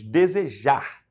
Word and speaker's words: desejar: vamos olhar as outras desejar a sílaba tônica é a última tiver dúvida em relação